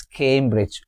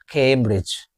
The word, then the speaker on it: Cambridge: Cambridge the the stress is on the first syllable Cambridge not Cambridge it's Cambridge came have you noticed the diff thong here came a came like c A M E in our word came Cambridge camer R I Z Cambridge camer repeat after